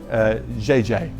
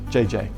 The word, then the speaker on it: Gigi: name is Virginia but Gigi is a Chinese word in China you would pronounce it JJ JJ if you still see a Chinese person does still say where JJ means big sister older sister and so because she